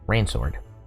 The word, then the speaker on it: Rainsword: Welcome back, or welcome to a new video by me, Rainsword. Yes, that's how you pronounce it.